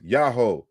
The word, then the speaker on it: Yahweh: So Thomas Romer again, on the other hand, it does seem clear the original pronunciation of Yahweh was Yahoo, Yahoo.